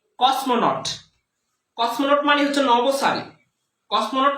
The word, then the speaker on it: cosmonaut: উচ্চারণটা কি, কসমোনট।